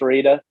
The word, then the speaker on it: Rueda: I asked Jenny about 18 times how to pronounce Rueda, and she confirmed it's not round, Sean.